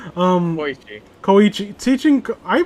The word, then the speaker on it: Koichi: fucking teaching Kyoichi, what was I saying? Koichi. Koichi. Teaching, I mispronounce everything.